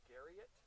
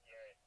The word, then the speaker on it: Garrett: Is your name pronounced Garrett or Garriott? It's Garrett.